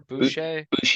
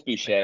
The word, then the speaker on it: Boucher: Boucher. I think it's Boucher. Bobby I believe it's Boucher. French. Yeah, Yes.